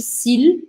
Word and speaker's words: s'il: Aqui esse L, eu tento pronunciar ele fortemente. Eu não falo s'il, eu não engulo o L. Eu tenho que falar o L separadamente. S'il, s'il.